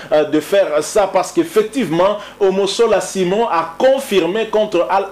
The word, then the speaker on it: Omosola: Le nom du gardien de l'ASV Club, c'est bien Simon Omosola et non Omosolo, comme a eu à le répéter hein, François-Claude Kaboulo, une erreur certainement de sa part, puisqu'il avait aussi bien prononcé ce nom, Omosola.